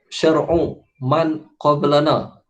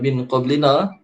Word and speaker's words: شرع من قبلنا: Cara bacaan dia macam mana? syar'u syar'u man qablana. Syar'u man qablana, bukan min qablina.